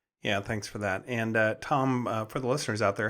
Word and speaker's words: Thom: So if you just type in Thom with Thom, the silent H, Welsh are known for their silent consonants.